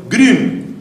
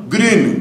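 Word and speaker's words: Grün: conocidos así recientemente Es el monje alemán anselm gren que anda dando conferencias por medio mundo yo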